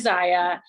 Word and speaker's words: ZYIA: backtrack one little second i know sometimes when i meet new customers or talk to potential teammates they say oh it said zia or zaya they like don't know how to say it so in case like my husband calls it zia sometimes i think he does it on purpose but it is zaya and it's obviously we